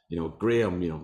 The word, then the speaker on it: Graham: So I usually just have to go, Graham, like the crackers.